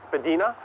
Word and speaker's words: Spadina: We're heading north up the west side of Spadina. That is the Johnny Strides official pronunciation.